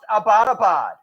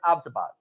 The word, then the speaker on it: Abbottabad: And she was like, yeah, and it's not pronounced Abbottabad. I was like, well, how do you say it? And she's like, it's Abbottabad.